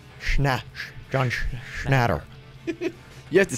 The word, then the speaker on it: Schnatter: John Schnatter.